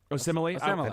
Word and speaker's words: Osemele: Osemele?